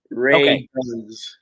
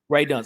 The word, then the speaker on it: Radunz: Radunz. Radunz.